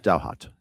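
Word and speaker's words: Douthat: Is it Duh? Ross Duhhat from the New York Times. Um, D O U H A T Dowart Dowart. Dowhat. Thank you.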